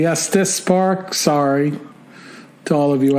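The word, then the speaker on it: Estes Park: part in there so I've been saying est's Park it's actually Estis Park sorry to all of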